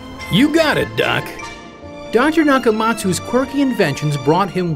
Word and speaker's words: Nakamatsu: to remember but he still wants you to pronounce it you got a duck dr. Nakamatsu score key inventions brought him worldwide recognition inventions